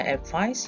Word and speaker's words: advise: verb so you can write sentence like i advise you to buy a good dictionary the pronunciation is advise and then we have another